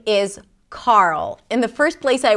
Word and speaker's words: Carl: The reason why it's so tricky is because there is an R sound, and then a dark L. And sometimes this combination is challenging for new speakers of English.